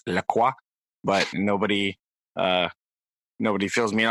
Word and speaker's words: La Croix: I that drinking distresses me because I'm fairly certain I remember enough high school French that they should be pronounced La Croix, but nobody fills me in on that.